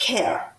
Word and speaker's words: Kehr: And the one was new council member Bob Kerr, whose name is spelled Kehr, but it's pronounced Kerr.